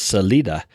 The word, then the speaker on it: Salida: You know, we have another town near here called Salida, which actually is Salida, which means exit, but we all say Salida because we're Yankees, you know, or whatever we are.